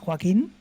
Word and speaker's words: Joaquin: hard name for english speakers my name is joaquin and most people can't pronounce it well so congrats or i'll just